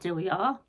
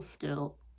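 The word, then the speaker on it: Diljá: I know now that her name is pronounced still yeah and not do we are and I've always said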